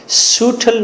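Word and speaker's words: subtle: सूटल new wind from heaven, और जन्नत से उम्दा किस्म की हवा आई है। सूटल, उम्दा, सूटल कहना है आपने, बी को साइलेंट कर देना है।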